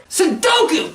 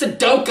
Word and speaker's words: sundoku: boring are you insane sundoku that's how you pronounce it i always pronounce this sudoku all the time which will cause serious